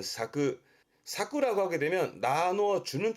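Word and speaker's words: 割く: 와레루는 나눠지고 깨지고, 앞에서 와루는 나누고 깨는, 지금의 와레루는 나눠지고 깨지는 쪽으로 많이 쓰게 되지만, 요거는 뒤에 쿠가 보일 때 발음은 사쿠, 사쿠라고 하게 되면 나누어 주는 쪽이 쓰여집니다만 주로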